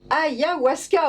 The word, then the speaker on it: Ayahuasca: Ayahuasca, au secours, ayahuasca. Est-ce que j'ai bien prononcé Bien prononcé.